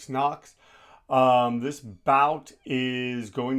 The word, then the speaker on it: Noakes: My name's Evan Jacobs back on the West Coast and I am doing Abdullah Mason vers Sam Knox. Is that how you say it? No. Knocks.